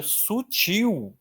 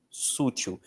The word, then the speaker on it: sutil: Atenção, um erro muito comum de escrita é achar que a palavra sutil, sutil é paroxítona. Tem muita gente que escreve sutil. Sútil, mas não fútil, sim, mas sutil é oxitonar.